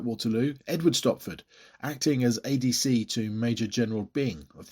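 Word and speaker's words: Adye: turn under the command of liutenant Colonel Steven ad apparently that's the pronunciation although it's spelled a d ye who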